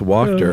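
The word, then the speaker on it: Wachter: W A C H T E R pronounced WTER.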